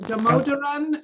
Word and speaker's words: Damodaran: i was pronouncing your name correctly is it damodaran is that how you would pronounce your last name that's correct okay terrific